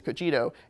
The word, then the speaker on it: Cogito: Cogito, this goes into, and that's how you pronounce it, it's not Cogito, it's Cogito, goes into customer service and the way the AI is really impacting customer service.